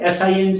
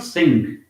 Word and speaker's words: sing: sound king same way s i ng is not sink it is sing ring ding but in